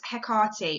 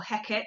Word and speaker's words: Hecate: this scene centers around hekarti or hecat or hecate depending on which pronunciation you go with who was the goddess